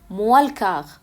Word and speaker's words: moins le quart: فهننطقها بقى بسرعة هيقولها ايه موالكاغ.